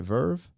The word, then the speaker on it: Verve: Verve? The Verve, yeah.